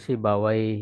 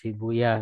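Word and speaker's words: سيبويه: juga Eh rohuyah ya bisa rohuya bisa sibuya berarti kan beda cara pembacaan kalau ahli hadis tuh lebih suka membaca ee rohuah gitu ya kalau ahli bahasa Arab lebih suka membaca W ya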